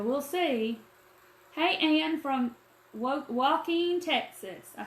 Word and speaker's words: Joaquin: Hey, Ann from Joaquin, Texas.